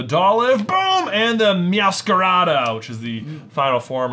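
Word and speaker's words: Meowscarada: live boom and the miascarado which is the final form of spaghettito I really feel like they were just starting with their syllables just sound it out it's meows scarves masquerade yeah there you go so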